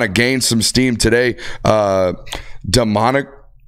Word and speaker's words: Damonic: Dominic. I think it's spelled Damonic. Damonic. That's why I read it, Demonic. One more time on that one. Dominic. But it's spelled Damonic. Real weird.